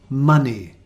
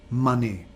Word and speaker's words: money: sunday monday number five money again the pronunciation is ah and the spelling is irregular o money number six calculate standard